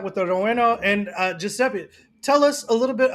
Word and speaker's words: Giuseppe: home family run it's three siblings uh roberta giuseppe like me and uh christina hang on timeout real quick before you continue you just said giuseppe giuseppe yeah if i've been saying your wrong